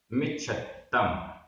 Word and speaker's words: मिच्छत्तम: मिच्छत्तम, मिच्छत्तम, आधा छ आधा त पूरा। मिच्छत्तम।